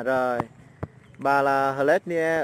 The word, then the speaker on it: Hlet Nie: gọi là mình đọc là Hlet. Yeah. Hlet. À. Nie. Nie, Hlet Nie. Yeah. À rồi. Bà là Hlet Nie ở Buôn Cốp.